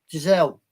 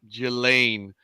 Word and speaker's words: Ghislaine: Giselle. No, that's not the way they pronounce it. Believe it or not, it's Okay. crazy. That's why I was saying Ghislaine.